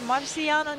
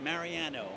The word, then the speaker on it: Mariano: I'm here with Marciano. Did I pronounce it correctly? Almost perfect. Mariano. Mariano. Mariano.